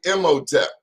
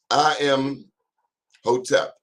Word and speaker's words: Imhotep: Imhotep. I am Hotep.